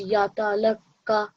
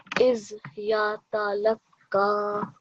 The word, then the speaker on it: يَتَلَقَّى: to read it is put 2 seconds on the end there. Shall I So pronounce it again? yeah, Is yatalaka. little bit longer. So at least 2 seconds. إِذْ يَتَلَقَّى. Is yatalaka.